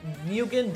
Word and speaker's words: Nguyen: Alright, I annexed them, and now I'm gonna form the Nguyen Dynasty.